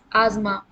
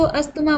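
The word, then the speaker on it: asthma: Next है बच्चों आजमा। इसको अस्थमा बोलते हैं ना, ये रियल में अस्थमा नहीं होता है, इसको बोलना चाहिए आजमा। क्या बोलना चाहिए, आजमा। इसकी प्रोनाउंसिएशन आप देखोगे, प्रोनाउंसिएशन होती है इसकी आजमा।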